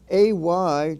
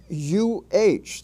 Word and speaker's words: a: Its pronunciation varies from AY to UH, that is A to depending on how it is used.